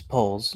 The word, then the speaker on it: Poles: was the scapegoat for how do you pronounce that Poes or poles it's poles Ryan Ryan poles Ryan